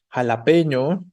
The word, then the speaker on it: jalapeño: están escribiendo por aquí jalapeño no también funciona Cuál es la sílaba tónica de la palabra jalapeño p no efectivamente entonces jalapeño es una palabra grave pero termina en vocal